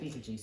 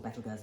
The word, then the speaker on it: Betelgeuse: I could say Betelgeuse or Betelgeuse, depending on how you want to pronounce it, because at the moment it's dimming, which is very exciting.